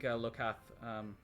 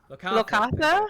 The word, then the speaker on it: Lokatha: Yeah, I don't think Lokath, I can't pronounce that. Katha? Lokatha? Thank you.